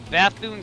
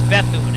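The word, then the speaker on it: Bethune: Oh, it's Bethoon, actually.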